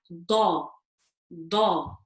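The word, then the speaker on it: ض: We're saying that the edge of the tongue, okay, is touching the molar teeth. So I would say it like da, da.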